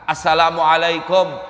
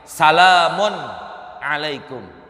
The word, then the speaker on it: Assalamualaikum: Terus satu, pala yudzi'u, maka dianggap tidak sah pembacaan salamnya kalau bacanya salamun alaikum, nggak ada alif lamnya.